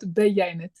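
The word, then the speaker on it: Beyaynetu: Okay, what about Beyanet? Say it again. Beyanet. Bayonet.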